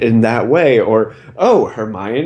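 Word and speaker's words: Hermione: that way or oh hermion is how you say it I always said it as Hermoine or you know you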